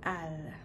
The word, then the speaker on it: elle: populaire du français québécois le pronom sujet l on prononce pas souvent l c'est toujours a ou al donc je vais vous